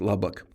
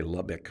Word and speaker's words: Lubbock: I grew up in a town in West Texas, Lubbock, and people always mispronounce it. They say Lubbock, but there's no ick in Lubbock.